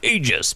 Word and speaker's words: Aegis: now before you jump on me saying it's pronounced AIS BBK Eis and I found out that Eis